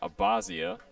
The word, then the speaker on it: Abazia: It's really a couple. It's either Abazi or Abby. It could really go either way as the 10 from Joey finds the zone for strike number one.